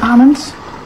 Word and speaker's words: almond: at the IPI symbols it is also silent L almonds almond butter from now